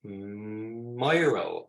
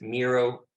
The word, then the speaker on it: Miro: That design tool is called Miro. I pronounce it Miro, but it's spelled like Biro. So I think it's Miro.